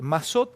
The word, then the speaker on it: Massot: Nicolás, Mazot, ¿está bien pronunciado? Mazot, Sí, es sí, sí. Mazot.